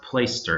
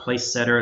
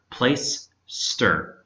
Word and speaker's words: Placester: Play Store comm and that is pronounced plaister it's not place setter it's not place tester it's not podcaster place ster really easy anyway so